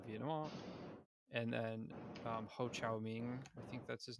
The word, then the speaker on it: Minh: It's literally, this is how it's spelled: Ho Chi, CHI. That's Chi, 100%. There's no other way you can say that. And then MINH, Minh. Ho Chi Minh. Mine. So anyway, not meme.